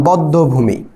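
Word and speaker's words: বধ্যভূমি: দুইবার যেমন তোমাকে বললাম বদ্ধভূমি বদ্ধভূমি এখানে দ্যাট একটা দ এর পরে জ ফলা আছে মধ্য শব্দের মাঝে যেহেতু জ ফলা তাহলে এই দ টা কয়বার উচ্চারিত হবে দুইবার এখানে দেখো দুইটা দ্রুত এখানে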